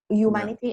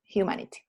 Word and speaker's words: humanity: Es aspirada, no es humanity, es humanity.